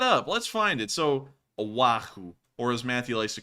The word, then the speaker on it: Oahu: let's pull that up let's find it so Oahu or as Matthew likes to call it a wahoo um so here's a problem with that like